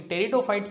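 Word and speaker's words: Pteridophytes: याद रखना है टेरिडोफाइट्स, क्योंकि टेरिडोफाइट्स की स्पेलिंग जो है वो टी से स्टार्ट नहीं होती है बल्कि पी से स्टार्ट होती है।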